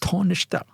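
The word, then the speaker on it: Taoiseach: the tishak the tishe tisha uh and it's pronounced tishta basically a lot of people have mispronounced him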